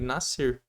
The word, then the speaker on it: nascer: Se eu colocar aqui, ó, nascer, você vai ler nascer, mas tinha um S.